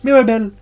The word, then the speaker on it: Mirabel: I don't know why I'm saying it like that, but that's how they say it in the film. Mirabelle.